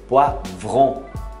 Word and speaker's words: poivron: Olha o O com I de novo. Poivron. Poivron. É um... A gente não tem V, R e vogal no... Vron. Desse jeito. A gente fala é vron. Né? Vré. Vron. Então é poivron.